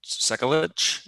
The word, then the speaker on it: Sekulic: a couple reasons so let's start with uh cyclic sekkalich is that how you say it yeah start